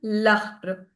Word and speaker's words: l'arbre: So, before a vowel, le plus arbre. Arbre is a tree. Tree in French. It's masculine. So, we'll write it as l'arbre. And we'll also pronounce it as l'arbre.